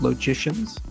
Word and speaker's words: logician: studied that are called logicians kind of rhymes with magician but it's called a logician and set theorists and